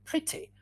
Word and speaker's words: pretty: others that are exceptions for example in the case of short usually it's the letter i but it could be the letter e like pretty or it could even be the letter o like in women or it could be the letter u as in busy so these pages will